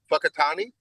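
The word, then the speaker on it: Whakatāne: But then if I learned that when I went there, and I went to, I think it's pronounced Fakatani.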